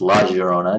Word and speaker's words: La Llorona: is going to be La Llorona, Indeed. which could be pronounced La Llorona, depending on which Spanish accent you use.